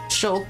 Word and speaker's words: Shulk: Is it, that's like, Shulk, but it rhymes with Hulk?